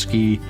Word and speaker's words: SCI: scientific Computing and imaging which we pronounced ski we were the ski